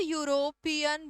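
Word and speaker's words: European: The pronunciation is य, जो कि है consonant. He इज अ यूरोपियन businessman.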